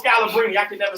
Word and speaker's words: Scalabrine: Nate Robinson, Eddie Curry, Brian Scalabrine. I don't even know if I'm saying his name right. Scalabrini. Oh, Scalabrini.